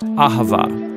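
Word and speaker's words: אהבה: It's pronounced Ahavah.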